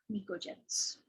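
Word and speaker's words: pnictogens: they're called microgens so p is silent p n i c o microgens uh 13 14 13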